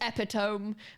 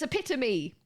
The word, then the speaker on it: epitome: You do not pronounce this epitome because if you do, someone will go, haha, that's wrong. It's epitome. Why? Why? Because it's Greek.